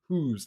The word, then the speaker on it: Hus: hosites not huzites but whatever his name is pronounced yan not jan yan huz like graham Hughes kind of maybe related I